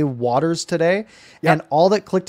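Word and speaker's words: Wouters: i also in my pregame i said chase wuters and then and then i looked it up afterwards guess what so we're both wrong guess what it's actually pronounced is it actually wounders it's waters like okay here's the thing so i said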